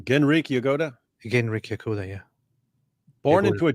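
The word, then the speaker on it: Genrikh Yagoda: How you pronounce the name? Genrik Yagoda? Genrik Yagoda, yeah.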